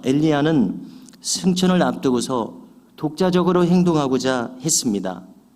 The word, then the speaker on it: 엘리야: 다연 엘리사가 수제자 격입니다이 엘리야 엘리사는 히브리어 발음을 우리 한국어로 그대로 옮긴 것이기에 히브리어 발음과 비슷합니다 영어식으로 표현하면 어떻게 읽어요 엘리야는 일라이자 엘리사는 엘라이사 이렇게 읽더라고요 그러니까 비슷합니다 영어로 읽어도